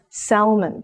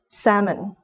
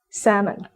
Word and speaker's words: salmon: would mispronounce it as salmon because of the letter L but this letter is a silent letter so this word is pronounced as salmon salmon five inconsistent spelling this